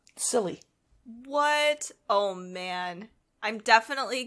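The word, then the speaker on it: Tsilly: a giant sea dragon called silly but that's spelled t-s-i-l-l-y silly what oh man i'm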